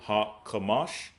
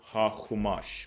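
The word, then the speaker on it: HaChumash: We pronounce it ha-kamash. They would pronounce it ha-chumash, which means the five.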